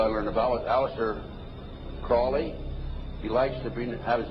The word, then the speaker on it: Crowley: learned about was aliser Crawley he likes to have his name pronounced Crawley to rhyme with holy and uh the satanists